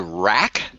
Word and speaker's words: Wrack: you you said the name so it's called rack rack i have no idea what it stands for okay now spell it for me real quick it's just like